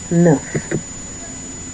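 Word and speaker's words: neuf: Next we have the number nine which is enough. Enough. I don't want to put enough like enough because it's not really enough is enough.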